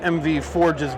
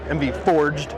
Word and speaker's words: MV Forged: Tyler just spotted MV Forge's booth. MV Forged, I should say, is how you pronounce it.